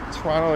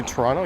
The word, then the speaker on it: Toronto: Welcome to Toronto. Yes, the T is silent. I'll find in everyday conversational speech, I'll drop the second T. Sometimes if I'm like reading it or something, it'll come out as Toronto, but for the most part it's Toronto.